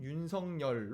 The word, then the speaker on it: 윤석열: 마지막 문장이 이렇게 됩니다 그러다 보니 본인이 원하는 발음을 인지한 사람은 윤석렬 로 발음하고 그렇지 않은 사람은 표준 발음대로 유인석 열로 발음하고 있는 것이다 이게 마지막 문장 이에요 그러니까 순전히 국어의 규칙대로 하면 윤석열 이 봤는데 본인의 의사를